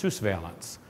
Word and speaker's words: surveillance: in the concepts of surveillance except in French it's pronounced suveillance it's about using information